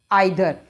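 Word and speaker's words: either: अगला हमारा है आइदर। एक तो इसको इधर नहीं, इधर भी बोल सकते हैं, पर ये जो आइदर है ये ब्रिटिश प्रोनाउंसिएशन है और इधर है वो अमेरिकन है, ब्रिटिश बेटर होता है।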